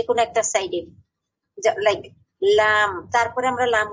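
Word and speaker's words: لام: আচ্ছা, এক পাশেও আপনি দিলেও লাম হবে, দুই পাশে দিলেও লাম হবে, দদের মতোই।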